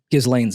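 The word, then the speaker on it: Ghislaine: like just let's L giz Lanes out there yeah but I mean that s is silent baby yes I I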